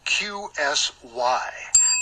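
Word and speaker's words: QSY: well that one is Q sy q sy and if you pronounce it like pushing it sounds something like the quincy in frequency and maybe that's a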